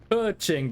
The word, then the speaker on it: Keqing: It was Keqing, by the way, is how you're meant to pronounce it. Keqing. Keqing, I think it is. I don't have the tonality correctly, but yeah.